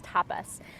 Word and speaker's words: tapas: One of the Niyamas, or personal practices, is tapas, sometimes pronounced as tapas.